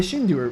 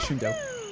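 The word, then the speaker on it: Shindou: lines and sounds, and the Shindu version, Shindo, I'm going to pronounce it Shindo.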